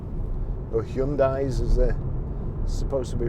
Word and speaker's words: Hyundai: Very reliable cars, Hyundais. or Hyundais as they're supposed to be pronounced, I think.